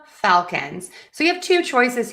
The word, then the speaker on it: Falcons: And then for falcons, we are going to stress the syllable number one.